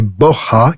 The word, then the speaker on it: Borja: Le vrai nom des Borgia est Borja, qui se prononce avec un H aspiré à l'espagnol.